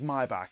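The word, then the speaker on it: Maybach: I'm saying it as my back because that's how they pronounce it. It is a German word. I said Mayback for the longest time, but it is the Maybback Maybback Convair 59 age.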